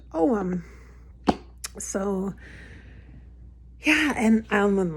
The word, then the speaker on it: Ogham: So yeah, so Oghams, I'm going to spell it for you. It's Ogham. Ogham, I believe.